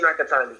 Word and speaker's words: Nakatani: Nakatani? Yeah, it's Masayoshi Nakatani.